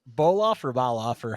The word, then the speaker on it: Bolof: Is your last name is pronounced Bolof or Baloff, or how do you pronounce it? Bolof, like That's what I figured.